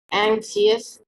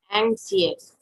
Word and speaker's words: anxious: Anxious. Stress on the first syllable, my dear. Then, how will you read it? Anxious.